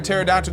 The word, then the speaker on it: pterodactyl: done for now why can't you hear a pterodactyle go to the bathroom because the p is silent nice uh we also